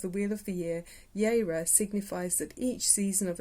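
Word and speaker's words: Jera: And then the last rune stone you've got here is called, it's the it's got a J, but it's pronounced Yeira.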